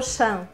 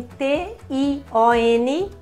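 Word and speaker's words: -tion: E hoje você vai ver palavras terminadas em T-I-O-N, como que é a pronúncia? É Shan, então não é Tion, né? É informação, por exemplo, não é information, sei lá. É information, ok? Então, esse é só um exemplo.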